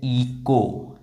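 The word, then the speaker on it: echo: और ये क्या है ये है इको ईको इको ये एच जो है वो साइलेंट है इको।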